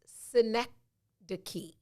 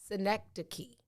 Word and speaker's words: synecdoche: from the late middle english 1350s ish it's pronounced synecdoche no not the city i know that one